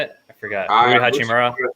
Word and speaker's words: Hachimura: Hachimura, is that how you say it? I forgot. Hachimura.